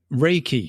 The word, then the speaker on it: Reiki: Reiki. Reiki.